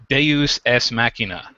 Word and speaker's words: deus ex machina: we'll call it a deus ex machina, right? I believe the proper Latin pronunciation is deus es machina, right?